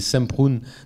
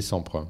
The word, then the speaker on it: Semprún: Et Montand d'ailleurs disait Semprún dans les premiers moments où il ne se connaissait pas, et à la fin de sa vie disait Samprun. C'est très bizarre, il a changé la prononciation.